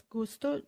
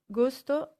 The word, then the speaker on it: gusto: try to remember similarly gusto and justo we have gu on one side giu on the other side the only difference is the eye try